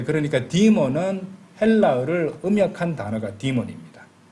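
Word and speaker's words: demon: 우리는 뭐 데몬 이렇게 부르기도 하는데 이제 보통 이제 영어식 발음은 디몬입니다.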